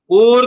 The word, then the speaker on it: poor: this man looks poor, poor correct pronunciation है, पुअर नहीं बोलते, ध्यान रखना।